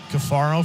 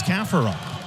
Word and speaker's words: Caffaro: clear before the game I know it's been caffaro for three seasons but now it's kafaron that native country of Argentina winning the World Cup a lot of Argentinian Pride we got to get the name right and his dad wanted